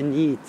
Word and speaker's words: NEET: In effetti la pronuncia è abbastanza giusta, è NEET. È una sigla che è NEET, una sigla inglese, e sta per Not in Employment, Education and Training.